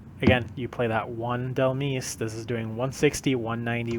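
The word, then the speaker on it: Dhelmise: I think it's pronounced Delmise because like demise.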